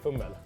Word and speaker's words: fummel: I say fummel. Fumbel. Yeah. Fumbel. It's fummel. Fummel. Yeah, so no B. B. Yeah, No B. All right, no, drop the B.